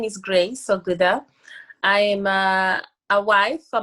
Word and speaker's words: Oggudah: to have her her name is grace uh oguda is that how you pronounce it yes it is that's how you